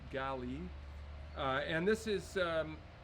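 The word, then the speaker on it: gale: hemisphere and this is um miraca galli g-a-l-e pronounced gali uh and this is um this is a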